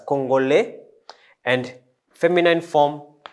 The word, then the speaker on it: Congolais: Congolais, we pronounce it as Congolais.